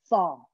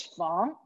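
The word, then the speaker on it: 房: So there are 2 ways to pronounce the word room. One is fong. This is in the original tone. The other one is fong.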